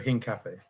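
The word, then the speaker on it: Hincapié: So Arsenal as we can see today have agreed personal terms and are very likely to sign pronounce the name again for me David. Pierro Hin Cafe.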